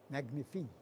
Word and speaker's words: magnifique: Magnifique.